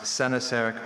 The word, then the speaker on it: coenosarc: Your word is coenosarc. Uh coenosarc. Can I please have all the information? Uh a coenosarc uh also pronounced sennasarc or coenosarc is a noun.